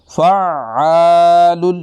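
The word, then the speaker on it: فَعَّالٌ: और इसको जो गलत पढ़ते हैं लोग, जिसका गलत प्रोनाउंस करते हैं, वो पहली शद को पढ़ते ही कोई नहीं है, इस शद को पढ़ते ही नहीं है, बल्कि कहते हैं फ़अालु लिमा युरीदु। फ़ा, ये तो ऐसे पढ़ा जैसे फ़ा पे ज़बर,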